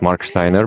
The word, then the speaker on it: Marksteiner: your name properly yeah I know it's a German name and it's pretty hard to pronounce it's Mark Steiner but you did it